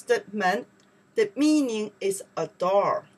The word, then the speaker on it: 门: You pronounce the man, the meaning is a door.